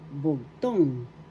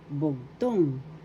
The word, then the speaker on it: bugtong: t o n g the accent is the second syllable bugtong bugtong bugtong and that means